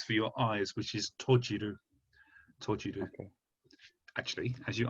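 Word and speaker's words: 閉じる: So this hon or shim tojiru. So this character here is exactly the same kanji for shimeru, but if you pronounce it tojiru, then it means something other than a door.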